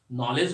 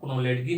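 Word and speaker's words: knowledge: मैंने उनको बताया नॉलेज होता है, कुनोलेडकी नहीं होता है वो, और नेटुरे नहीं होता, वो नेचर होता है।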